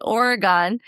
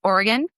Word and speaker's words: Oregon: A burglar in Oregon broke in, apologized, and Venmo'd the homeowners $200 before leaving. Real or Reddit? First of all, teacher Amanda, I believe it is pronounced Oregon.